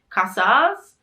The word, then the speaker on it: Casas: they're named right because it's spelt like casa like house in spanish with an s on the end so casas and if we were